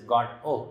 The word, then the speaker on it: Godot: waiting for an unidentified person godot which which is pronounced as god oh at times maybe they